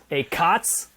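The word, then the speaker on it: ACoTS: i say i'm gonna i decided i'm gonna accent i'm gonna change the accent on the syllable so a a cos acts on the first syllable is is a add cost of sales a cots if i emphasize that t in there on the second syllable um but yeah with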